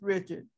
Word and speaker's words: Lena Richard: would say richard because in louisiana we have both the english and the uh french pronunciation and you see when